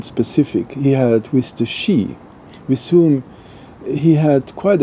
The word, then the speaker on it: Sidhe: It's the story about the Shee, called, spelled Sidhe, but pronounced Shee.